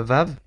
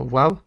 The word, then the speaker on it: Vav: La première lettre, à partir du haut, c'est la lettre Vav, que certains prononceront Waw, et qui est simplement ressemble à une barre verticale avec une tête.